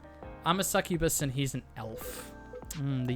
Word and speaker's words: succubus: So it's like suck you bus.